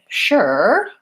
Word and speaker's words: sure: So the word sure has the SH sound, even though we spell it with the letter S. And then again, there's just my sound. So I could say her, sure, were.